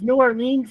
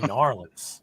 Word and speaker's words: New Orleans: Cisco okay what is New Orleans Louisiana very good mispronounced it's Norland it's actually Norland Louis Norland I got it I don't